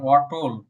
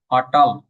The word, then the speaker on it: অটল: তোটটা উচ্চারণ করার সময় কি আসতেছে? ট উপর দিয়ে উচ্চারণ করতেছি আমরা। অটল। অটল। কিন্তু সংস্কৃতি এটা হবে না। ট ট এর সাথে অ আছে অই উচ্চারণ করতে হবে। আটাল আটাল এই যে ট এর